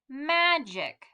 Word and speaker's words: magic: some soft g's now so we know this is going to be a soft g the j j because of this i right here so let's say together ma jic magic if you tried to